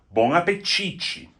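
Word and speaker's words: bom apetite: Another great one, which is a little hard to figure out the pronunciation of, is bonapichi.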